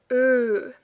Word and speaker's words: ö: You have to take out the R, and it is not exactly that. The English sound would be The German is ö. Let me see, what changes? Well, first of all, your lip is different. Like when I do you can see it's wider than when I do ö.